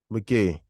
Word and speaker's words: Magee: Ah, how do you pronounce it? Your surname? Magee. Magee.